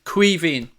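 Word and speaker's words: Caoimhín: Bears a game and how do I pronounce Kelleher's first name queen queen Sam it's the Irish word for Kevin so if you want to call him Kevin you probably get away with that but yeah it's Queen Kelleher that's how you pronounce his name and chain willing to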